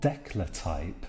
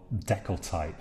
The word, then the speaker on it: decltype: though already and what declar type or deckle type I should probably say a thing that's the widest use pronunciation so deckle type here this actually allows us